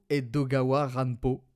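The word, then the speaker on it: 江戸川乱歩: donc Edgar Allan Poe, et je vais le prononcer à la japonaise. Donc Edgar Allan Poe Edogawa Ranpo.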